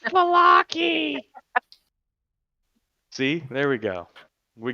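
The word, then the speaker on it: Vallaki: It's Valaki! See, there we go. We got it. How dare you pronounce it wrong?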